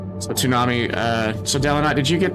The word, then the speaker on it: Toonami: Yeah, Toonami is how it's pronounced.